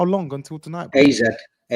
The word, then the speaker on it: AZ: AZ. No, it's pronounced RZ. I know, but why you? But that's for Dutch people. It's pronounced RZ, isn't it? That's just AZ. the proper pronunciation.